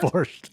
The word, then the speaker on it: borscht: Borscht.